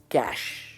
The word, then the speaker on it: cache: इसकी प्रोनाउंसिएशन है कैश। जैसे हम कहते हैं ना कैश, वो ये कैश है।